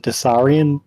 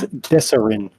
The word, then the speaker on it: Desarin: I call it Desarian Valley. It's Desarin Valley. Desarin. Like Sorry Desiree.